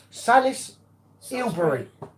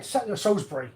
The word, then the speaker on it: Salisbury: the S sbur say I can't pronounce it Salisbury that's what he said Solsbury Salisbury Solsbury yeah but M said